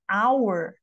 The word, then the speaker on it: hour: Mas, se, por exemplo, a palavrinha fosse hour, eu não tenho o mesmo fonema. Ele não é par, porque o som do H em hour não existe.